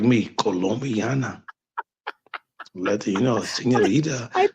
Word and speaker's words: Colombiana: film that you were talking about with Zoe Zandala was Kumbala, uh, Oh, Colum, Colombiana. Yes, that's how you pronounce it, Val.